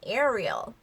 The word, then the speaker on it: Ariel: 자 그런데 영어로는 Ariel, Ariel 이런 느낌입니다. Ariel, Ariel. 자 그래서 에리얼보다는 Ariel, Ariel. 그리고 마지막 얼이 L 발음이니까 이 혀를 윗니 뒤에 붙이는 Ariel, Ariel 이렇게 이제 발음이 되죠.